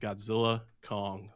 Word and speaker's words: Godzilla x Kong: Wingard, the director, came out and said that the X is silent. So it's just Godzilla, Kong, the new empire.